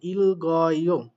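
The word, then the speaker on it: 읽어: বাট একটা কথা মনে রাখবেন, যদি ডান পাশেরটা কখনো ওঠার মতো অবস্থা থাকে, অর্থাৎ বাথরুমের পরে যদি ইয়ং থাকে, তাহলে ডান পাশেরটা কিন্তু উঠে যাবে, আর সেক্ষেত্রে কিন্তু ব্যতিক্রম ঘটে বাম পাশেরটা উচ্চারণ হবে। এ যেমনটা এখানে ইল গয়, দেখেন এই গিউকটা উপরে উঠে গিয়ে গ, গিউকের সাথে গ এর সাথে অ হচ্ছে গ, আর রিউলটার উচ্চারণ হচ্ছে ইল গয়।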